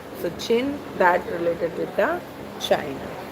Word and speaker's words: Qin: Okay, the pronunciation was Qin. So, Qin that related with the China.